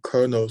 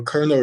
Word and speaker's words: Carnot: that is called the kernel cycle so colonel is a french guy he's a french guy so i think the t is silent and this is a